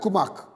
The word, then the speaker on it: Kumak: 47-year-old Richard Pamponet of Valencia was found chopped to death in the forest of Kumak, the A is silent, Kumak, in Valencia by one of his cousins on Sunday the 26th.